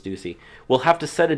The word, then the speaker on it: Ducey: If, in fact, he does resign, Arizona Governor Doug Ducey, or Ducey, however you want to pronounce it, I think it's Ducey, will have to set a date for a special election.